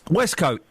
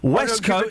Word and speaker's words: waistcoat: Westcoat. Waistcoat. Westcoat. It's spelt W-A-I-S-T, which pronounces waste.